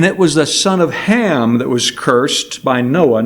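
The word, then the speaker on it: חָם: referred to this verse as the curse of Ham, and many have erroneously taught that the Hebrew word behind Ham means black.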